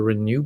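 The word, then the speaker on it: ren.nu: intervention program called the renew program so it's r e n dot n u so for renal nutrition but it rhymes with renew renew your kidneys if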